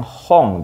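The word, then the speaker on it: 本: relatif masih Gampang ya ini bacanya adalah yang yaitu yang Hong di sinne ya Hong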